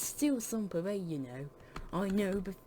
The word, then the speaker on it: Sans Pareil: believe it you're still around unmatched it's still some parade you know i know but it's french for your name still really weird though your name is spelled it's pronounced but still you're still abound even after all